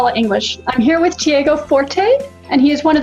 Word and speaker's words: Tiago Forte: In English, usually people say Tiago Forte, but it's a Portuguese Brazilian name. And how do you say it in Portuguese? It would be Tiago Forte. Say that again? The T sounds like a C, like a CH.